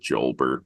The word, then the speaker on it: Jolbert: Holbert Cabrera. Oh, well, I prefer to pronounce it Jolbert, but you know, it sounds like a Dilbert character.